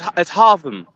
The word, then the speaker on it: Haltom: We are in Haltom, Texas. It's kind of like Gotham, but it's Haltom.